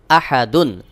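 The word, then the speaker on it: أحد: দাল দুই পেশ দুন আহাদুন আহাদুন দালের উপরে দুই পেশ তানভীন এরপরে আর কোন হরফ নাই এখানে ওয়াকফ করবো তাহলে উচ্চারণ হবে আহাদ দুই পেশ সাকিন হয়ে যাবে সহি উচ্চারণ হলো ওয়ালাম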